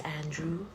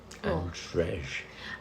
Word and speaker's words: Andrej: His name is Andrew, but it's spelled so weird. It's like Andre, but... Andrej. Yeah, but people call him Andrew.